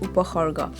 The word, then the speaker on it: Upasarga: Finally, let's talk about Upasarga, which is locally pronounced Upahorga.